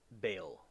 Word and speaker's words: Baal: talking about is about B or what's pronounced Bale.